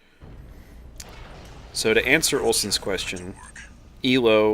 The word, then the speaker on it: Elo: So to answer Olson's question, ELO or ELO, it's named after a guy named Arpad Elo, so it usually just pronounce it because it's not actually an acronym that people mistake it to be.